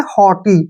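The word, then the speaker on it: haughty: ई इसको हम पढ़ेंगे हटी ठीक है ना हटी ठीक है जी एच यू जीी एच का उच्चारण हमने बिल्कुल नहीं कर रहे हैं हटी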